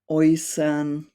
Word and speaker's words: äußern: And it could be an A umlaut, Ä, plus an U, or E plus U is pronounced Oi. So if you read words with these combinations, it could be like Leute, äußern, heute.